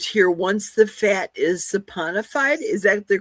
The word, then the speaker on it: saponified: And here, Isabel wrote here, once the fat is saponified, is that the correct pronunciation, Rick?